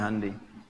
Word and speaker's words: Hyundai: Honda ya Korea bikin hundai Hyundai bacanya hundai kemudian sana masuk Piala